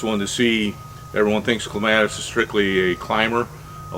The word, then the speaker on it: clematis: so a couple other things with uh the clematis actually it's gonna be technical it's pronounced clematis but um on all the raymond evanson varieties